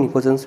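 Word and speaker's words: pnictogens: अब हम बात करते हैं 15th ग्रुप की, जिसको हम नाइट्रोजन फैमिली कहते हैं या निकोजेंस कहते हैं। पी यहाँ पर साइलेंट है, इसको हम निकोजेंस भी बोलते हैं।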